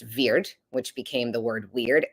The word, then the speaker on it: wyrd: of the word word was originally wyrd pronounced veir which became the word